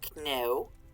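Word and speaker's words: cneo: Kneu, C-N-E-O. Sometimes it's C-N-E-O-W. Just depends on the scribe and how they want to spell it. Kneu. Slight different pronunciation, but it's close enough that if you're going fast, you won't really notice the difference a lot of the time. But kneu is me. That's why there's a K in the word me,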